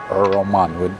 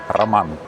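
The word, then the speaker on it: Роман: To me, it's always weird because in my native language in Russian, it doesn't sound like Roman because we just don't have the sound. We pronounce a rolling sound. So, my name would sound in my language as it should to me, Raman.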